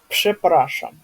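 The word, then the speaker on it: przepraszam: И то есть это у нас будет первый будет жи, да, то есть как Ж и Пшепраша, да, такое очень знаменитое, популярное слово пшепраша.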